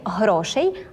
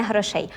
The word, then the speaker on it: грошей: Коли ми змінюємо слово пам'ятаємо про правильний наголос наприклад скажемо так бракує грошей а Не грошей а також Коли ми